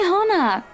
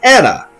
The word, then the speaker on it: Hana: right please just hannah call me hana normally i would pronounce that anna but hana it is i just wanted to